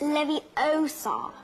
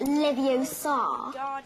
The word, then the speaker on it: Leviosa: some of iron besides you're saying it wrong it's Leviosa not Livio song you do it then